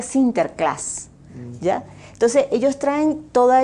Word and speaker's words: Sinterklaas: holanda pues ese es san nicolás y se pronuncia a sinterklaas ya entonces ellos traen